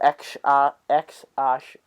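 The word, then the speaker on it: X Æ: Yeah, so it's pronounced X and the A is pronounced Ash. It's Ash, isn't it? Yeah. So X Ash.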